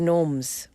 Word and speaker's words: Gnomes: Island see all the Gnomes and by the way Tommy it's not Kun Tommy Nim come on he's so hilarious G but the g is silent silent all right let's